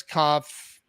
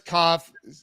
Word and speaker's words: Kopf: go to um Koff I I see I want to say the P I know I know I'm not supposed to but I want to